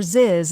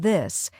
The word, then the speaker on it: this: Many learners pronounce it as S or Z'd, like sink instead of think, or ziz instead of this.